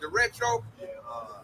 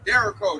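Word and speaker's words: derecho: They call it the retro. I pronounced it wrong last time. It's called a Derico. A Derico.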